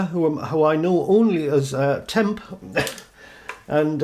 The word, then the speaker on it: Temp: Now these are all designed and produced by an Atari Age Forum member who I know only as Temp, and it's spelled TMP.